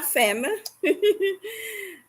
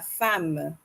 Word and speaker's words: femme: Je vais répéter: la mère, la tante, la femme, not la femme. Okay, that's the English pronunciation, mais en français, on dit la femme.